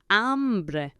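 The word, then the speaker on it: hambre: say I have hunger the word for Hunger is amre spelled h a m b r e not to be confused ever with ombre so you may have heard hre h o m b r e means man but amre means hunger for I'm hungry you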